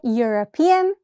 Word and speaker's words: European: Again, a European. European also starts with the consonant sound Y, y, so a European.